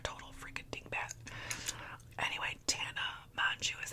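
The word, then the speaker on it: Mongeau: Anyway, Tana Mu is how you say her last name, this other influencer.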